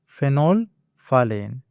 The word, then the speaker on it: phenolphthalein: The H and T in the middle are kind of silent, and you do want to replace them with the F sound. So the correct pronunciation is phenolphthalein.